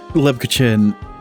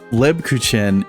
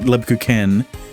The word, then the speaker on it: Lebkuchen: Because, okay, the first two syllables, right? Lebku are alright. But Chen is pen. Right? Not like a CH turned into a K, Ken, right? It's not Lebku Ken, but it's more back